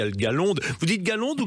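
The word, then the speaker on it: Gaslonde: Il y a pas que celui-là, il y a le Galonde. Vous dites Galonde ou Gaselonde vous ? Chez al nous on dit galon prononce pas le s Ouais ouais c'est ça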